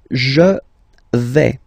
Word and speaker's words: vais: The first form is je vais. Okay, so remember, final S not pronounced here. Je vais. Okay, when you combine this A-I, you get the sound A, really open, okay?